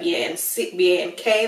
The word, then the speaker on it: Banc: Not spelled like B-A-N-K like regular bank, but B-A-N-C, but pronounced Bank.